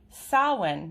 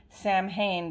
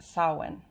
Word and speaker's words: Samhain: the week which culminates in the holiday holiday sawin now i learned this today i've been pronouncing it samhain but this is a celtic celebration and it is actually a pred pronounced sawin um someone is the calendar middle point between